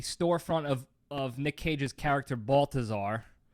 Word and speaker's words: Balthazar: of Nick Cage's character Balthazar. Balthazar, not Balthazar. No, it is, Balthazar. but that's how I pronounce it. It was with a hard T. Yeah, hard TH.